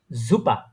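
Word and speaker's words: super: কিন্তু এস কিন্তু ওই এস টা মাঝেমধ্যে আপনার বিশেষ করে এস টা জে এর মত উচ্চারণ হয় অনেকটা ঠিক আছে এস টা কিসের মত উচ্চারণ হয় জে এর মত উচ্চারণ হয় হ্যাঁ এস টা এস এর মত উচ্চারণ করে না তারা তারা জে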